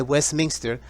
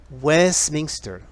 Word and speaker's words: Westminster: la histor y queda también el Palacio de Westminster donde funciona el parlamento inglés y que fue construido para un rey otra vez la pronunciación escúchala bien Westminster Westminster Westminster Palace Westminster Aby así otra fecha 18